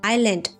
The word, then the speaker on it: island: Island the S is silent.